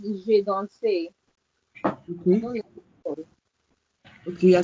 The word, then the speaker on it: je: two, this J-E in French is not J. I've been correcting this several times. Okay, This cool. J-E here is what? Is je. Je. It's J apostrophe A-I that is called J. So please, let's not make this mistake. This je means I. This je here means I. So it's not J.